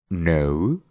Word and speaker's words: know: El quinto truco es que cuando tenemos una palabra que empieza con una K y después tiene una N, solo vamos a pronunciar la N y no vamos a pronunciar la K.